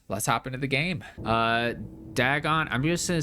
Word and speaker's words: Dagon: Throughout the video I pronounce it Dagon. So yeah, but it is Dagon and it is very interesting.